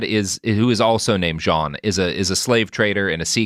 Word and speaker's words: Jean: Uh, like you know, French John with like spelled like jeans but without the s but not like Jean Luke Jean. No, no, that one. Yeah. J E an Jean Rabin.